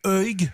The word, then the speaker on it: Uig: Alors, direction le petit port de Uig, je crois que ça se prononce comme ça, UIG, Uig.